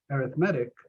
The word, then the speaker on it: arithmetic: A sequence is called arithmetic, like arithmetic, only for whatever reason we emphasize the weird syllable, arithmetic, provided we can go